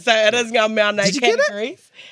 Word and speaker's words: Ngā mea nei: Today our game is called Ngā mea nei. And you have to say it like that too. Ngā mea nei.